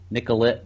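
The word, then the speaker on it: Nicollet: They traced it back to Nicolette, Minnesota. I think I'm saying it right. Yeah. Yeah, that's how we say it. Yep.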